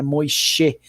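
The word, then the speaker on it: Moishe: chamar de Moisés postone Moisés é com s h né mocher se escreve né Moisés postones então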